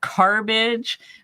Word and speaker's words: carbage: I call it carbage, which rhymes with garbage, and that's what it really is.